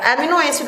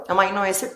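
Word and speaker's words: amino acid: तो आप याद रखिएगा कि अमाइनो एसिड जो होता है, अमीनो अम्ल या एमिनो एसिड बोलो, जैसे भी आप इसको प्रोनाउंस करो, अमाइनो एसिड ज्यादा अच्छा होता है।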